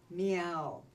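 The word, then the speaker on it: Miao: group with an unusual name they are called meow and it's spelled m AO bus loads of han han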